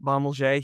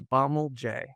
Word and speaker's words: Bommelje: don't know if it's French. I actually think it's not, um, but I pronounce it Bommelje. He would say it's Bommelje.